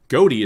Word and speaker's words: Ghoti: It is derived from the gh in tough pronounced as a f sound. The o in women pronounced as an i and the ti in nation pronounced as a sh sound.